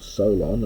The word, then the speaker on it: Solon: 29 which introduces the story of Salon or Solon as we often pronounce him nowadays to the Imp to